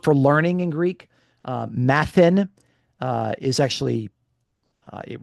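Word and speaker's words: μαθεῖν: Um uh and and actually the the verb for learning in Greek uh mathan uh is actually uh it rhymes with the verb for suffering pathn. Okay. So matan and pathan.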